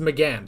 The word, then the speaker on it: McGann: So it is pronounced McGann.